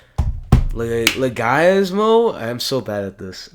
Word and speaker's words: Leguizamo: Leguizamo? I'm so bad at this. I know John it's like, Leguizamo. well, John Leguizamo.